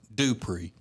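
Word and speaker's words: Dupré: And Rob, it's pronounced Dupree.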